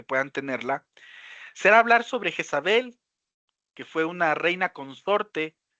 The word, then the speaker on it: Jezabel: Quizás este nombre de Jezabel está muy arraigado a la pronunciación griega de su nombre, ¿no? Tipo Yesabel es el el nombre que vamos a encontrarlo en en en el griego original.